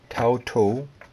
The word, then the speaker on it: Taito: on to the actual review this figure the tauto figure it is if you cannot see that it is spelt t-a-i-t-o uh if you want to look